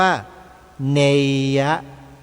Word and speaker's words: เนยะ: ก็ เลย บอก ว่า การ อ่าน ออก เสียง ตัว บาลี ประโยค นี้ หรือ คำ นี้ ให้ อ่าน ออก เสียง เป็น สระเ ยักษ์ เป็น ตัว สะกด เพราะ ฉะนั้น เมื่อ จะ ออก เสียง คำ ว่า เนยะ ที่ เรา ออก ผิด มา โดย ตลอด เนี่ย ให้ ออก ให้ ใหม่ ให้ ถูก ต้อง ว่า เนยะ สระเย ยักษ์ โยม เน ไม่ ใช่ เนย ไม่ ใช่ ใน มั้ย พอ